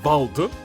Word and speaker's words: Wald: Meanwhile, uh Wald is pronounced Bald.